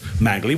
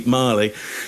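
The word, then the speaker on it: Magli: Either that he thinks it's pronounced Magley, which you're right, Scott. People would have said, you're getting it wrong, mate. You got to look cool. It's actually Marley.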